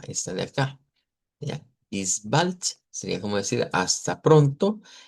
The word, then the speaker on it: bis bald: Esta no tiene mucha diferencia, casi las que la podemos pronunciar leyendo esto de acá, solo que repito, a medida vayamos profundizando nos damos cuenta que esta, por ejemplo, es una U corta, que esta es una I corta, esta de acá.